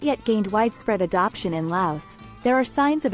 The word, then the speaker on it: Laos: Laos, pronounced without the S, a landlocked country in Southeast Asia, has a history of using silver and copper coins as currency.